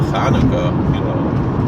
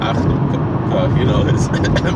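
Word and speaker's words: חנוכה: If it's elsewhere in the word, it's still cha. Like it's still Chanukah. It's not achnukah.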